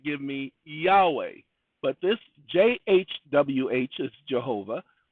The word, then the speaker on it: Yahweh: Yahweh is the Hebrew pronunciation of the name.